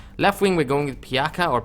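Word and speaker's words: Pjaca: Now, left wing, we're going with Piaka or Pajaka. I'm pretty sure the J is silent, so I'm going with Piaka, but I could be wrong.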